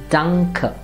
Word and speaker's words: danke: not english but english lastly when a comes at the end of a word its pronunciation becomes a so that this word will be pronounced as danke and not d repeat after me